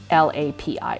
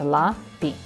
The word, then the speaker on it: LAPI: And it's the lab that is used by the CDMX airport, or Mexico City airport, is LAPI, L-A-P-I. It's pronounced LAPI, LAPI.